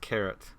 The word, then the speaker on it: Charat: And yes, that is that is pronounced Charat.